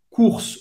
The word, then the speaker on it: courses: Les courses. O U tem o som da letra U em português. Les courses. Acaba no S. E S no final você não vai pronunciar.